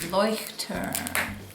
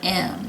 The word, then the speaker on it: Leuchtturm: This is my Leuchtturm, and now that I figured out how to say it, I love the word Leuchtturm. Leuchtturm, 1917.